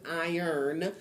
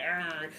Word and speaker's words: IERN: That's what IERN, even though we pronounce it iron. Will is earn. Everybody's like earn.